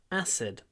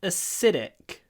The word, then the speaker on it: acid: acidic so maybe the most interesting thing here is that acid the stress is on the a but acidic the stress is on the is on the Sid or the S I should say acid acidic acid acidic